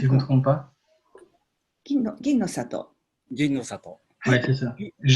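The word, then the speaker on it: Ginnosato: C'est le Ginno Sato, je crois, la variété de riz, si je ne me trompe pas. Ginno Sato.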